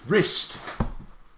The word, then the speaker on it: wrist: hold a second wrist wrist a silent w at the beginning a silent w he